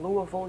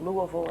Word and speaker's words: Louisville: If you're from Louisville, you pronounce it Louisville and not Louisville.